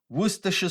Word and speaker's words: Worcestershire: A gente não pronuncia aquela palavra ali da forma que a gente lê, tá? O inglês não é uma língua fonética, igual o português. Então não é Worcestershire, Worcestershire, não tem nada disso. É Worcestershire sauce. Se você tiver inglês britânico, você não vai pronunciar aqueles R's ali, vai ficar Worcestershire sauce, tá?